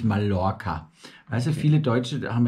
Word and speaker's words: Mallorca: LL wird immer I ausgesprochen. Das ist wie Mallorca, nicht Mallorca.